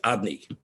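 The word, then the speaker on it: אדני: for hashem is obny it's spelled alive daldud nunyut it's not spelled youth cave of cake youth cave of chaos we said is pronounced odni but its connotation is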